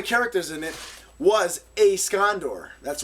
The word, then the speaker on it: Scondore: First and foremost, my YouTube username is pronounced scondor. It's not Escondor or any other crazy variation I I get thrown all the time.